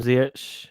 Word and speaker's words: Ziyech: And obviously we've signed Hakim, Ziyech, Timo, Werner, which I'm sure you're very excited.